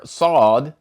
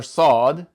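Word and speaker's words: ص: we learned that the letter saad sounds like a heavy version of the English letter S, and therefore we put a little dot underneath the S for the transliteration as if there is an extra weight making that S heavy.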